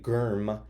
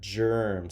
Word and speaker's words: germ: there's a G there we don't say Girma and if use it in a sentence Duggar the germ makes people sick wait remember that we studied that soft G when there's an e after the G or an i the G becomes a soft G so it says G so then this would